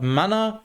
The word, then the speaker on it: Manna: So in German, it's mana for the magic resource, but manna for the bread.